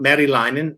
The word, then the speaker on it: Merilainen: Sorry, the last name is pronounced Merilainen. If you're in Finland, Merilainen. Merilainen. If you're here in North America, it's just.